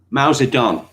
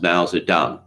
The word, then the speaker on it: Mao Zedong: detail um okay so mao zedong in opinion oh it's actually it's pronounced mal's are done deng xiaoping well actually